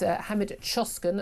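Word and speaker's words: Hamit Coşkun: Uh the one I'm asking you about this morning um about this man uh this is Hammed Choskin I understand his name is pronounced uh he's a he's an asylum seeker from Turkey.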